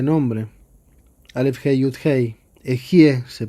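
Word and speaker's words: אהיה: Las 41 letras de este nombre, Aleph, Hei, Yud, Hei, Ejie se pronuncia, es el nombre más elevado del Dios, es como Dios se llama a sí mismo.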